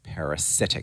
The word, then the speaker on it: parasitic: Parasitic. So we have the word parasite with stress on the first part and parasitic with a different stress pattern.